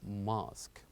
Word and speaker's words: mosque: Yes, it ends with U and E, but they kept silent as we pronounce this word as mosque.